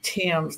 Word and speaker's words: Thames: I pronounce my last name Thames, like the Thames River in England.